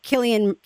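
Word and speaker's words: Cillian: Because there's a part where Killian, right?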